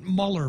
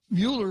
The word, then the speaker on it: Mueller: Mueller versus Trump yeah not Muller versus Trump Mueller versus Trump and perhaps subcase Mueller versus people who know how to pronounce his name then we've got we've